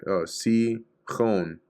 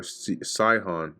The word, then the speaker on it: Sihon: Chon with a long O. Hon. Sihon. Or Sihon. This with the stress on the first syllable.